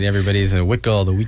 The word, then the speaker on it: Huichol: audience that maybe you know first of all it's spelled hu I CH o L all right everybody's a wit gold we call those oh yeah so the Huichol